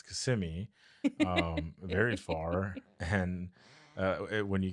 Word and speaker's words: Kissimmee: So for all those non-Florida individuals, a lot of people say Kissimmee. Nobody's kissing you. Like, nobody's kissing you. It's Kissimmee. You just let it flow.